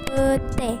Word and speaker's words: petai: Contoh kedua, petai diucapkan pete.